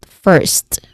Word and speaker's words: first: So we get first, one syllable only. So this particular word is stressed.